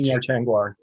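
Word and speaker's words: Tengwar: Tingwar.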